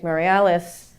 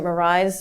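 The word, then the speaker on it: Meirelles: a man named Enrique marialis I pronounced it Marise because for some reason my Portuguese is very bad I was I was corrected last night actually in Berkeley about my pronunciation of his name but he was someone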